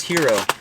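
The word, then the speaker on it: gyro: Eastern of some kind if it's called Hero or Hyro or Gro, how do you pronounce it? She said it was Hero.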